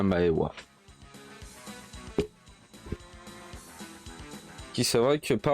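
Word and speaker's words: は: pour une phrase mais le deuxième mois watashi wa ça s'écrit mais on prononce voix pourquoi du comment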